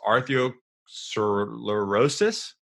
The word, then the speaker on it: arteriosclerosis: And you guys can, I hope I pronounce this correctly. The main thing of cardiovascular disease is arteriosclerosis.